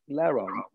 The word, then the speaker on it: Larro: So I am with the man, the legend, Larro. That's ain't right. You said it right. Larro.